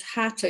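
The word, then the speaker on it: Hatha: receive so my only experience of yoga is Hatta yoga which is spelled h-a-t-h-a and I believe means Sun and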